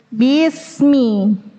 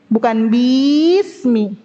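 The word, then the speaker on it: بسم: Bisman, bismi.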